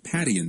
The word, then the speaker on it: Padian: You know a ton of stuff, the AIDS, HIV cases, and I guess an expert in the Padian study. Am I pronouncing that correctly?